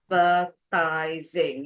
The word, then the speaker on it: advertising: It's 4 syllables. Advertising. Yes, 4 syllables. Where do I stress? The first one. Yep, advertising.